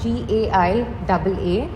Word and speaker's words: Gaiaa: It is spelled out as GAIAA and we also have a Telugu version of it which is GA and then the Telugu letter Ya.